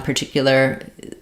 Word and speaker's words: particular: so that you've heard some people drop the lur particular particular particularly yeah that's probably another error that I hear but I would try to keep the lur at the end as well I think that one's a little even more important than the first R um to be to